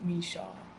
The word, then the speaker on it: Micheaux: for people so that they know and don't mispronounce it okay so is my middle name and it goes Michelle need a shot yeah okay I we we